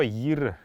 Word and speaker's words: йир: Можно ставить неясный гласный, а можно не ставить. В тудобичик оно писалось как йирю, поэтому неясный был, но в современном калмыцком уже настолько это слово изменилось, что оно звучит как йир.